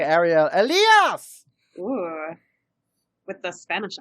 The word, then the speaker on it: Ariel Elias: don't know the personal preference of my name ariel elias and i don't know if i'm wrong that's